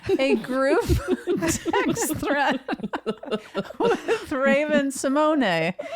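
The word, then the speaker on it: Raven-Symoné: We've known that she's she's now correcting everyone and says it's actually Simone. And I'm like, well, I'll never not think of you as Raven Simone.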